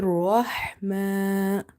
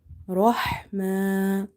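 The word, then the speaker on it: رحمة: So try to pronounce it from the middle of the throat. Here Rahma, Rahma.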